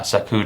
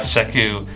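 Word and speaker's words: Sekou: guard you have uh saku to coin but that's that's definitely not how you say it but you have seku uh there playing at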